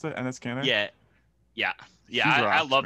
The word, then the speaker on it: Enes Kanter: I really like is that how you pronounce it? Enes Kanter?